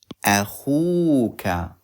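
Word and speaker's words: أخوك: A, khu, add waw. Akhu, and then we put ka. Akhuka.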